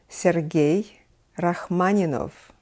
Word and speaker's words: Sergei Rachmaninoff: Aryan ski was the teacher of Sergei Rachmaninoff Sergei Rachmaninoff and Rachmaninoff all-time competitor in moscow conservatory was